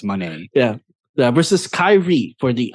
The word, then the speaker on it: Moné: at first and that she clarified that's money yeah versus Kyrie for